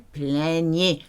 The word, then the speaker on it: plaignaient: Ils, elles plaignaient. The last one sounds like the first three. Your E and T is silent.